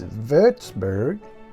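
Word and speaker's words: Würzburg: to the 8th Century you pronounce wburg in German it's verburg what's wburg famous for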